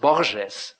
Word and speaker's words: Borges: uh Jorge with boxes insisted in having his name pronounced Borges by the way the Portuguese way and not the Spanish way because he explained to